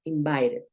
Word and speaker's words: invited: convierte porque es usual cuando tú ves una t en medio de dos vocales que esta puede sonar como una r invited invited muy bien it